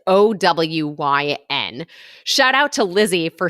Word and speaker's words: OWYN: about own protein shakes so I think that's how you say it it's O Wyn shout out to Lizzy